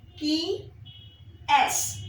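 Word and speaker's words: qui est-ce: Q U I qui EST A hyphen CE key S.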